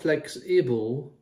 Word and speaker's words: flexible: Remember the sound in the middle, the I is not flexible, it's flexible. We'll talk about that sound because it can apply to the E, the I, the A and other letters. The sound becomes It's almost like a neutral sound, a beige sound as it were.